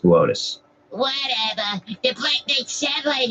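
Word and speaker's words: Boötes: the constellation of botus booties botus it says booties on the tele it's pronounced botus whatever the black night satellite is supposed to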